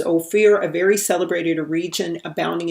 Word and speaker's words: Ophir: to king solomon and they pronounce it as oh fear because oh fear is like light or gold okay and so the